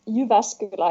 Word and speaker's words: Jyväskylä: Yeah, it's Jyväskylä in Finnish.